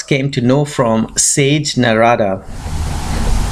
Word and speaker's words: Narada: to know from sage narada not at money as some people called him as sanskrit but for the benefit of the West who would be more familiar with his name Narada I will be pronouncing him as Narada so the gods came